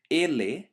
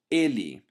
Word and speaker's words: ele: even if you don't, you might have realized that I don't pronounce ele, but I pronounce ele. So exactly like the O at the end of a word, which is pronounced as a U sound, so I say branco instead of branco, the E letter at the end of a word is not pronounced E, but E instead.